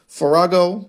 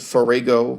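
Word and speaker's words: farrago: Farago. Do you pronounce it fargo? No, I think farago condemning and dismissing the historia as nothing but a farago of cheap pornography.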